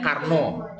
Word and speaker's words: Carnot: Konon bacanya Carnot ya.